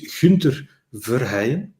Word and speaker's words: Gunther Verheyen: um let me let me first say my full name so that people know how we how we said it in Belgium so my full name is Hunter ver which is not easy